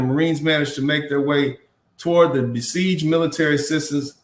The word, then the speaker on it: Hue: thank you so much it's pronounced way matthew thank you so much i think so this would be way city thank you so much